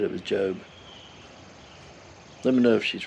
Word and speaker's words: Job: She said it was Job. Let me know if she's right. I'll take her word for it and I'll pronounce it for Job this time.